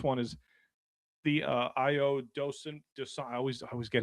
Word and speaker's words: Dosunmu: Even this one is the uh Ayo Dosunmu I always I always get his name wrong. Dosunmu his uh his game against his 43 points